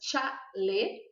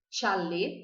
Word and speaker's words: chalé: Então, a primeira palavra é chalé. Chalé. Lembram que o E é fechado, chalé.